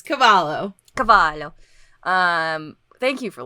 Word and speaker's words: Cavallo: I think that is a cult classic that's Cavallo Cavallo Cavallo Cavallo so used to pronouncing the devil l in Spanish where you